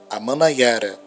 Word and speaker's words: Amanaiara: Daí o surgimento de Heriutaba, Taba do Heriú, Amanaiara, terra das chuvas. Se escreve A-Man-Na-I-A-Ra, Amanaiara, terra das chuvas.